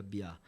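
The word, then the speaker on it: Mbyá: meu grupo é o piá escreve m b y a tá se pronuncia Bia cara eu eu senti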